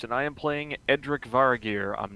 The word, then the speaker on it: Varagyr: Also, to introduce, we are playing House Varagyr. I did pronounce that right.